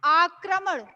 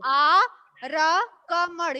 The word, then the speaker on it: आक्रमण: आर्या, अच्छा लिसन, मैंने बोला कि उच्चारण पे ध्यान दीजिए। मैंने बोला आक्रमण, आक्रमण। आप पढ़ते हैं यहाँ क्या लिखा गया है, यहाँ पे है आरकमण, यानी आरकमण। क्या है, क्या है, आरकमण